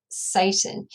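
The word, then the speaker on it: Seyton: But I think the pronunciation is Satan. So when Macbeth is issuing orders to his assistant Satan, it sounds as if he's commanding the devil himself.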